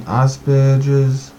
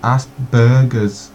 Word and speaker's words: Asperger's: people with their autism Asperger's which for some reason every time you say it sounds like ask Burgers to me like burgers that's actually how we